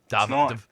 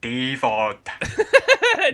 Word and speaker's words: David: By the way, you're saying David's name wrong. Davad? It's because it's the Dundee accent. It's David. David. My name's David.